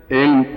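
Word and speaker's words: ऐं: अब हुम इसमें म आया है और श्रीम, रीम, क्लीम इसमें म आया, केवल एक जगह ग आया है, एंग। ठीक है, उच्चारण समझ गया? एंग, एम नहीं बोल सकते, एंग।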